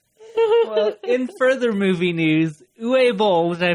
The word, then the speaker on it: Uwe Boll: Well, in further movie news, Uwe Boll, did I pronounce that right? Uwe Boll.